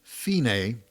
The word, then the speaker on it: fine: the bird's eye and that's marked fine pronounced fine which means end the